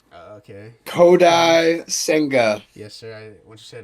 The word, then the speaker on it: Kodai Senga: I hope I pronounced this right. Okay. Kodai Senga.